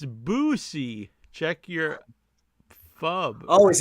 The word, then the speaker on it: Boosie: Jonathan Jackson, Tazo acting like he doesn't know how to pronounce Bussy. It's Boosie.